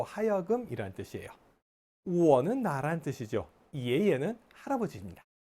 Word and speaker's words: 爷爷: 예예는 할아버지입니다. 예, 예예, 이예, 이예 이렇게 이성경성으로 발음해요.